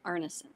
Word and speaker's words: Arneson: Please pronounce first and last your last name for me. Oh, it's uh and Arnison.